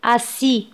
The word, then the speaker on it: assis: طبعا S لا ننطقها في آخر الكلمة. assis.